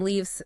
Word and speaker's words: leaves: And then leaves, say it, leaves. Long e sound like in tree and it ends with a v sound.